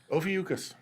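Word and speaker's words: Ophiuchus: And I want you to pronounce the constellation. Ofucas.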